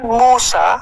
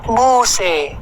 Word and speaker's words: Musa: Ada yang mengatakan Musa, ada juga yang membacanya Muse. Ada orang Arab yang membacanya bukan Musa.